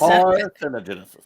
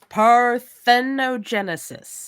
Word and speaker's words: parthenogenesis: words God damn it yes parenesis parthenogenesis yes that's it yes woohoo yes so